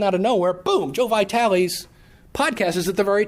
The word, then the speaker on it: Vitale: And all of a sudden, out of nowhere, boom, Joe Vitale's podcast is at the very top of the list. Everybody's going, who is Joe Vitale? I think is how you pronounce it. Remember, Vitale, tomato.